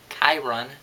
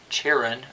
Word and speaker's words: Chiron: they mispronounced kirn's name which is supposed to be Chiron not like cheran or something like that and they say t probably